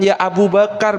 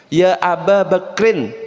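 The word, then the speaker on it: يا أبا بكر: Bukan ya Abu Bakar, tapi cara bacanya dalam bahasa Arab ya Aba Bakrin Siddiq. Ya, karena apa? Ada ya ketemu dengan mudhaf ilaih, maka setelah ya itu pasti fathah dan yang paling akhir pasti kasroh.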